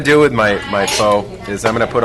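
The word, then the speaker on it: phở: national dish which uh is f when you say it correctly but the problem with saying f is that when Americans say the we sound like idiots so I just say Fae cuz that sounds better to me so my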